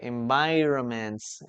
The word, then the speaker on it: environments: Okay, environments. Be careful with this because we need an extra n here. Environments. The n is not pronounced but it has to be there.